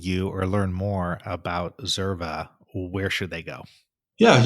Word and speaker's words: Xerva: So if somebody wants to get a hold of you or learn more about Zerva, where should they go?